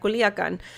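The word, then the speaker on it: Culiacán: has been arrested in western Mexican city of Culiacan. Sorry, I meant to pronounce that. Culiacan.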